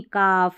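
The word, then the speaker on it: calf: भी में रहता है, इसको कालफ नहीं काफ, हालफ नहीं हाफ, यौलक नहीं यौक, फौलक नहीं फॉक, सभी में है कॉम्बिनेशन।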